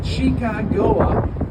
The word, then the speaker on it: Chicago: Those French visitors or French explorers were pronounced the word Chicago with an SH sound, like champagne or Chicago, hence the name Chicago.